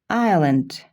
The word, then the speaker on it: island: Island, island. Арал. Мында S окулбайт.